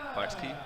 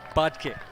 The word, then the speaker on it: Batek: How do I say it? Bartsky? Budkit. There we go.